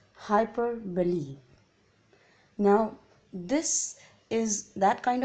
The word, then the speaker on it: hyperbole: first one is hyperbole please pronounce it properly it's hyper believe now this is that